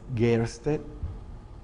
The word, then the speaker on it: Gaerste: Y el Gaerste, que se debe pronunciar es Gerste, es de origen alemán.